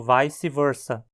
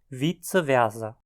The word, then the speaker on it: vice versa: vogais por exemplo isso levou a pronúncia moderna dessa expressão como vice versa se você estiver falando latim área anglófona já em áreas falantes de alemão a pronúncia se tornou vitz Vera tudo isso é latim